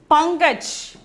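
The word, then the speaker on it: पंकज: For that, we have to pronounce this as pankaj.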